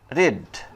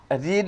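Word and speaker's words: read: Would that I, এখানে could রিড the Latin, এইটা। অথবা উড দ্যাট আই রিড আছে না, এখানে রেড, মানে বানান একই থাকবে, উচ্চারণ অন্যরকম হয়ে যাবে।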